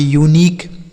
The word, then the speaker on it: unique: तो यू के बाद अगर कोई भी एक वावेल लिखा रहेगा तो यू का उच्चारण यू हो गया, यूनियन। UNIQUE इसे पढ़ेंगे यूनिक, क्या पढ़ा जाएगा, यूनिक।